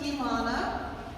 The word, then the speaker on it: Elana: contains my mission um it's pronounced Elana which is a Hebrew name that means uh it's a poetic word for tree and it is um